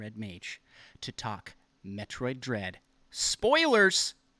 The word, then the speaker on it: Mage: Thanks for pronouncing mage correctly.